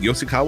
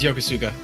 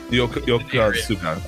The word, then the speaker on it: Yokosuka: Yoshikawa or something like that part? It was Yokosuka. Yokosuka.